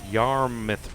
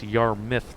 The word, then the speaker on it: Yarmouth: Well, not necessarily yelled at me, but he's like, you said Yarmouth wrong. It's Yarmouth, not Yarmouth. Yarmouth is pretty. No, it's Yarmouth.